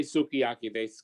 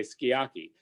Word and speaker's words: sukiyaki: been calling it kinsakori all japanese syllables are equally accented so they don't say sukiyaki they say skiaki they don't say hiroshima